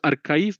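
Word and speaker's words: arXiv: So we pronounce it as archive but it is written as RX right.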